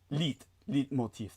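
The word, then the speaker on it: leitmotif: That was his le motif. Am I pronouncing that correctly? His life theme. Yes. Leap motif. Yeah. Leit lit motif.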